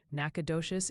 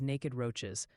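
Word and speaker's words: Nacogdoches: Nacadocious is naked roaches.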